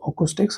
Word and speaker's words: Akoustyx: magnetic India monitor you guys can see Acoustics pronounced Acoustics oh yeah doesn't matter this is a planner